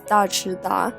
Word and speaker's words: Daechwita: And on top you can see that I'm using a bright red polish to write the Chinese characters of Daechwita, pronounced as Daechwita, and it's just the sound signaling the entrance of the king or the emperor.